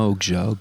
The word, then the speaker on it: Okja: Un petit mot sur Okja, David. Je ne sais pas si je le prononce bien. Okja, ouais.